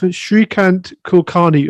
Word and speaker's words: Shreekant Kulkarni: another episode of kasatoshi and today we have srikant kulkarni of green hashes did i get that correct